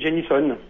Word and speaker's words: Genisson: je prononce votre nom génison ou Génisson ah on pouvez le faire à la française gén ou l'américaine jenison jenison ok qu'est-ce que vous